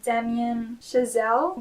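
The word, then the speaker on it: Damien Chazelle: Directed by Damian Chisel. That's how you pronounce it.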